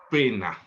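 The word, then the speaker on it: poena: Del latín pena. Se escribe p o e n a, ¿no? Y se pronuncia pena.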